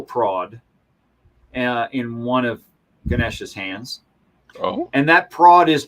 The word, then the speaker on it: Ganesha: organic um well it's ganesha uh ganesh is the english pronunciation of the same word which is fine you